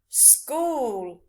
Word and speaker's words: school: These words have a k sound in, but they're spelt with a C and a H.